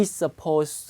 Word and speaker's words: supposed: be supposed DT로 끝나면 D 발음 안 합니다.